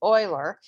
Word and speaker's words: Euler: It's Euler. He was Swiss, so use the German pronunciation just like you would with Freud, not like you would use with Euclid and the Greek pronunciation.